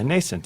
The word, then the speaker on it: nascent: Yeah, nascent. Nascent, Oh, right? yes. Yeah. Actually, as a man of letters, traditionally it's a hard C sound, so it's nascent.